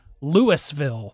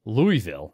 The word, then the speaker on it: Louisville: Or Louisville. Mm-hmm. Or Louisville. Louisville. Louisville. I kind of sort of dated a girl in high school who was from Louisville, as I think it should be pronounced.